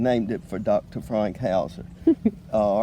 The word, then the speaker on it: Hauser: It's House with an R on the end of it.